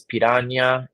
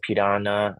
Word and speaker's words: piranha: So for whatever reason in English, we got the Portuguese spelling, but we don't pronounce the ñ.